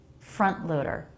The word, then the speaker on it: front loader: Stop the air in between. This is not the same as front loader. Front loader. Where there's no T at all, I am making a T by making the stop of air. The stop is needed. Front loader.